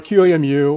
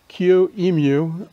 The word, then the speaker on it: QEMU: code more approachable now how do you pronounce qmu well qmu or qamu or qemu are the answers that i've uh seen or heard in different talks on qmu today i'm going to just use qmu as the uh way to pronounce it so what is qmu